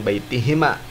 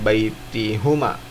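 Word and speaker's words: بَيْتِهِمَا: Karena ada ila, maka dibacanya baitihima, bukan baitihuma, bukan.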